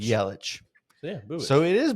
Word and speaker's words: Yelich: Or wait, it says with the CH sound similar to the name Bubich. Yelich.